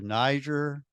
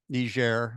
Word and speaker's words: Niger: three and four over to Niger Niger sorry French pronunciation and then in five